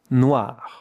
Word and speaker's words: noir: It's the sound W with the French R at the end. Noir pronunc.